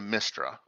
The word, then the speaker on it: Mystra: is a this is a um shrine to mystra over here oh that place is going to